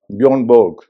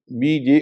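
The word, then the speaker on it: Boje: उसी तरह निकी बॉय south Africa के क्रिकेटर तो उनकी स्पेलिंग भी बी ओ जे ईच है। लेकिन वो बोजे नहीं है। बोय है।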